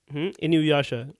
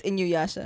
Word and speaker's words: Inuyasha: Inuyasha. Oh, it's Inyuyasha.